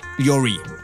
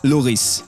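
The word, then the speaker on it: Lloris: you're still with me you'd probably agree that this man the spurs goalkeeper is called hugo yuri right well if you do you also need to brush up on your friends just like me because he is apparently called hugo louise yeah and let's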